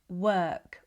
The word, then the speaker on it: work: The brain loves patterns, So, instead of practicing word, work, world in isolation, practice them in sound groups. So, the brain starts to connect the letter O with the er sound.